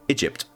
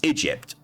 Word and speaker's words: Egypt: Egypt. Yes, Egypt. That's how you pronounce that country name.